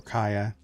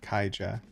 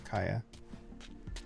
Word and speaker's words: Kaja: Or Kaya, actually. They don't call her Kaija. It's Kaya. J is silent for some reason.